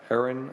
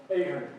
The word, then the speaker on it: Ahern: Aaron up first, if I hope I pronounced it correctly? Very close. Very close? Ahern. Aaron, okay. From Ireland, they say Ahern.